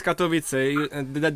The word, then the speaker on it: Katowice: And I'm going to pronounce the cities wrong, so I apologize. But is it Katowice? Yes, Katowice.